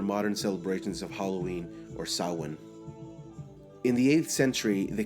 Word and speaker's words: Samhain: Halloween has its roots in the ancient Celtic festival of Samhain, pronounced Samhain, but sometimes said as Samhain, as it's spelled Samhain, meaning summer's end.